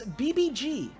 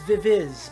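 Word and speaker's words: VIVIZ: this name looks one way but you actually pronounce this BBG this is BBG uh which com to the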